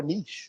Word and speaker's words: niche: to that whole yes you can pronounce the word Niche or Niche it's up to you do what you do but a large part of that has to do with regions of the country and where you reside